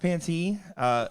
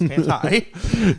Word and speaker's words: Panti: We did get a comment in here saying it's pronounced Panty. It is not. We asked her. It is Panti.